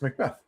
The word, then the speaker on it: Macbeth: Macbeth? Our second round pick. This guy is his last name Macbeth? Yeah. Is that how you pronounce his last name, Macbeth? It's Macbeth.